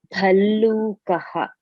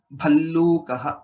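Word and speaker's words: भल्लूकः: Bhallukaha. Bear. Right. Bhallukaha. Bha Mahaprana, Lakara and Lakara. Bhallukaha.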